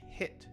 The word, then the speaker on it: hit: for a while know the short i is one of the most difficult pronunciation areas to master so the natural short